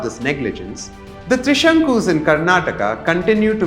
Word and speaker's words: Karnataka: defend it claiming that it is acceptable to say karnatak or Canad but do they use